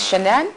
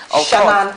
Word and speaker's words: Shannon: Is it Shanann Outreach? Shannon Outreach. Shannon Outreach. Very specific of that, That's actually. right. Divine Shannon Outreach. That's right. Yes, I said it right.